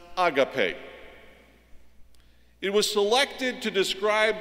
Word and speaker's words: agape: the Christian writers use the one that is pronounced agape it was selected to describe the particular quality